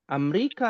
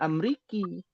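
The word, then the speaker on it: أمريكا: Nah, pada umumnya jadi kalau ketemu fi jadi fi Amerika nggak boleh Amriki.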